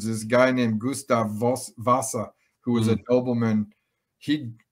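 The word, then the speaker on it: Wasa: know it's funny in in german the w a s a is pronounced like a v vasa okay but it means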